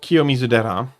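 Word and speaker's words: Kiyomizu-dera: And now that I know what she's talking about, I can pronounce them properly. That is King Kakuji and Kiomizera.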